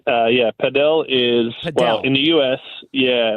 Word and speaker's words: padel: has actually came out and said you should pronounce padel because uh there's another sport called platform tennis